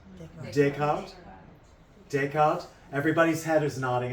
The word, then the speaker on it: Descartes: Does anybody know exactly how that's pronounced? Descartes.